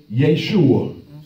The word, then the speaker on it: Yeshua: now, because his original name in Hebrew is Yeshua. Some say Yahshua. Now, let's not be dogmatic, because I don't ever want us to be dogmatic up in here. Because some people spell it Y-E-S-H-U-A, Yeshua.